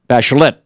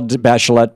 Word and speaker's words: Bachelet: By the way, Michel Bachelet in Chile, they pronounce the T. Michel Bachelet was just elected along